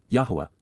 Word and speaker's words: Yahowah: Yahweh Yahwa the proper pronunciation of the name of Eloha God as directed in his Torah teaching regarding his high existence and our shalom restoration.